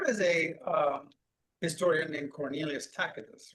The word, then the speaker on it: Tacitus: Well, here is a historian named Cornelius Tacitus, right? A lot of people say Tacitus, but in Latin, the C is pronounced as a K.